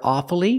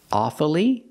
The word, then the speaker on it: awfully: one strange word awfully sometimes you'll hear awfully with three syllables awfully but it's more common to hear awfully with two syllables examples I'm awfully sorry